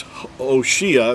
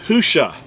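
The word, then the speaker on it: הושע: If you look this verse up, you'll see that where it says Hoshea, that, first of all, that's not even an accurate transliteration. The actual word is Husha.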